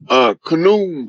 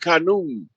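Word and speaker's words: Khnum: That's Khanum, I think is how you pronounce it. You talking about Amun, right? Amun Ra? No, his name is like Khanum.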